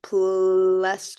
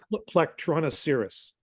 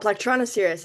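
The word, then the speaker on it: Plectronoceras: pod is an amonite named plasis did how you say it it would the yeah PL tronos cerus oh platonos cerus I totally butchered that um that's that's our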